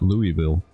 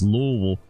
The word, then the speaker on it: Louisville: west of Louisville Louisville how you say it it's not Louisville it's Louisville to the state line